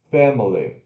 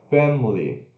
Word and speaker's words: family: Ó, com schwa, family. Sem schwa, family. Quase nada de diferença, né? Por isso tem essas duas pronúncias corretas, mas tá bom.